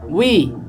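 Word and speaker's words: وِ: আমরা ওয়াও জের উই এটা অনেকে অধিকাংশই উচ্চারণ করতে পারে না। তো এটা বলার সময় মুখ গুল করতে হবে কিভাবে, ওয়াও জের উই, ওয়াও জের উই, তারপর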